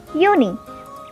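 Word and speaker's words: Juni: is called as my so far you know already that j is pronounced as y in german so the next month which is june in german it is called is uni same we have july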